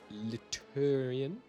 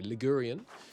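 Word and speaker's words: Ligurian: Uh we are 67% Liarian. How do you say it? Sorry, Lurian.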